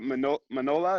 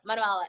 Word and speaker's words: Manuela: Manola, is that how you pronounce it? Manuela, yeah. Manuela.